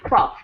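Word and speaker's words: twelfths: Yeah, 12. That one's one of the most difficult ones to say because we've got the L, the F, the TH, and the S all in a long row of consonants.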